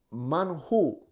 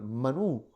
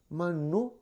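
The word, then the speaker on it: man hu: o la pronunciación normal, Manú, ¿qué es esto? Que es de ahí donde viene el nombre maná, que significa, ¿qué es esto? Maná, manú, manjú, literalmente escrito, pero la pronunciación manú, ¿qué es esto?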